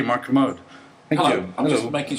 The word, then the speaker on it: Kermode: I just want to point out, you spent the last 2 weeks telling me correctly to say Kermode.